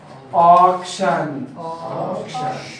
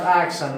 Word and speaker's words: auction: Auction. Auction. Once again, we see A before you. A را پیش از یا میبینیم. This is auction. It is not action. Action is something else.